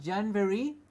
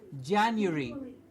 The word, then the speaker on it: January: month of the year, in our mispronunciation we get a V and we say January. It is not January. There is no V. It's Jan and a U, like U, Y-O-U. January.